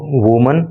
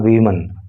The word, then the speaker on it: women: अंतर यह है कि जब एक महिला की बात होती है, WOMAN स्पेलिंग होती है, तो उसको पढ़ते हैं वुमन, और जब एक से अधिक महिलाओं की बात होती है यानी कि प्लूरल में बात चली जाती है तो स्पेलिंग हो जाती है WOMEN, और इसको पढ़ते हैं फिर वीमन। अंतर समझो, एक वचन को पढ़ोगे वुमन और बहुवचन को बोलोगे वीमन।